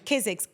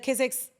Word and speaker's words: Kizik: How do you spell it? K-I? Kizik, K-I-Z-I-K.